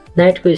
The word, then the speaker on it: knight: नाइटको spelling KNIGHT भयो भने यसको प्रोनाउन्सिएसन नाइट हुन्छ।